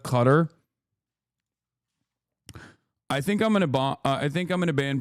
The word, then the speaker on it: Qatar: You are pronouncing Qatar wrong. You keep saying Qatar law instead of Qatar.